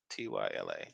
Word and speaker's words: Tyla: Tyla.